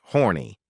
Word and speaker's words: Horn: He also played Tyrone F. Horn, pronounced horny, a learing old man who spent every episode unsuccessfully flirting with Buzzy's character, Glattis Orfby.